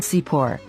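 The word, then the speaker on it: צִפּוֹר: by these letters the word sipor has two nickeled signs under that saudi is the naked sign for pronouncing the sound e as in igloo this nickled sign is called and over the letter vav is the nikket sign for pronouncing an o sound this nickel sign is called so we have the sound c plus a p plus an o and then an r so we say c pull c pull now let's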